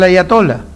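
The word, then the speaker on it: آية: La palabra haya y quiero que me entiendan a ver si si lo puede repetir. Aya con una hcha aspirada al final sería.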